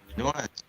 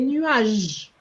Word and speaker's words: nuages: There's no accent, so why do you want to say A? Remember, you know, an E without an accent is silent. So we're going to say tout près des nuages, and we stop at the G.